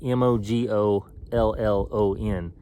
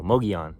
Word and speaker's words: Mogollon: I'm trying to get on top of this rim, and I think it's spelled Mogollon, Mogollon, but that's not how everyone pronounces it. They pronounce it, now I don't even know, Mugeon, the Mugeon Rim.